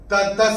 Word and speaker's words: ततः: तो ये जो त के बाद विसर्ग के बाद का अक्षर है स, और विसर्ग के बाद जब स आएगा तो विसर्ग का उच्चारण होगा आधा स।